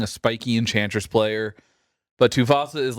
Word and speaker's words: Tuvasa: It's pronounced Tuvasa.